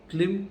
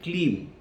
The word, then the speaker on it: Klim: The first is Klim Krishnaya. It is Klim Krishnaya. Please don't pronounce it Klim. K-L-E-M is a different Bij mantra. Here we are pronouncing Klim.